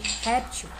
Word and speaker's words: réptil: Qual é a sílaba mais forte? É o rep ou til? É o rep, né? Réptil, né? Aqui é a mais forte. E ela é a penúltima, ou seja, essa palavra aqui é paroxítona.